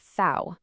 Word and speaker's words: V: The letter V is pronounced Fau, and it makes an F sound, like in Vogel.